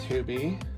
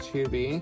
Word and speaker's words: Hobbii: And so this is a box of her yarn with Hubie, spelled H-O-B-B-I-I, pronounced Hubie.